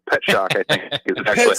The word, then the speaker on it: Pierzak: Pet shock. Like you're surprised to see a pet. Pet shock, I think, is actually how you pronounce it.